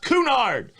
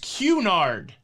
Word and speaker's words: Cunard: listening to myself talk i think it's pronounced cunard cunard so many of these words